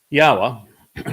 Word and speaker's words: Yahweh: The O sound from Eloah, God, is provided by the Wah, and it is concluded by the Ah sound in Yahweh's name.